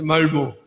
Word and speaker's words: Malmö: Y cuando uno llega a su casa en Malmö, yo no lo sé pronunciar bien porque se dice Malmö, cuando uno llega a